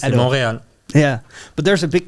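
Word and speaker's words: Montréal: I have no clue you just don't see the te you don't say the te you monreal yeah but there's a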